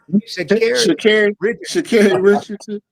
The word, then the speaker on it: Sha'Carri Richardson: Sha'Carri Richardson.